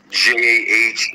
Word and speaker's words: Elyjah: So Elyjah, like Jah, Tribe, all one word.